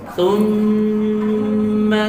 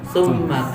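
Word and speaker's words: ثُمَّ: Orang cuma membaca ditekan tapi tidak ditahan. Jadi cuma baca summa kalla gitu.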